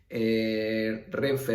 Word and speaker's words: Renfe: como una sola palabra, no se pronuncia R-E-N-F-E, se pronuncia como tal, como Renfe, Omni, por ejemplo, otro caso de acrónimo.